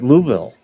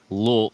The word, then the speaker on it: Louisville: You didn't say it right. It's Louisville. Louisville. No, it's Louisville. It sounds like you're like gargling water, like Louisville.